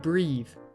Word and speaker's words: breathe: The E at the end of breathe reminds you how it should be pronounced.